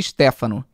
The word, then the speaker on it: Stefano: Peraí que a Stefano falou, você falou meu sobrenome errado. Se pronuncia Stefano.